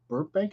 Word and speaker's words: Burbank: Hello, Kyle Burbank. Is that how you pronounce that?